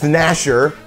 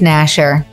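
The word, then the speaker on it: gnasher: a bff meek tooth nasher or tooth grinder um tooth grinder because i do a lot of that especially in my sleep ah tooth nasher silent g wins armor or casual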